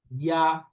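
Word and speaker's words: ياء: ইয়া। ইয়া না, ইয়া জিহ্বার মাঝখান উপরের তালুর সাথে লাগবে ইয়া।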